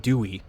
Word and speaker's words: Dwey: A second later, Edward Dwey, two syllables, one of her Bravo squadmates, crashes through a window and lands inside the train.